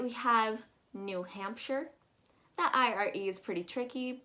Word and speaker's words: New Hampshire: again it's english so you're going to be pronouncing that ire as if it's just an ir new hampshire don't pronounce it as new hampshire underneath that we have